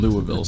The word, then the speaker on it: Louisville: our Uber driver in Louisville said how heavy can you be it's pronounced Louisville lville forville how heavy can you